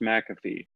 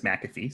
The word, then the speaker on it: McAfee: it when you look at the word it's pronounced McAfee I've also heard people say mafy and MC so are you asking which is